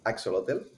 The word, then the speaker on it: Ak-Xolotl: on kickstarter starting tomorrow it's a really difficult name to pronounce but it's axolotl and it was an